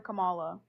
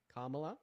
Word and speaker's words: Kamala: Trump because I didn't want to vote for Camala Kamla is how you pronounce her name and why did you not want to vote for Kamala Harris?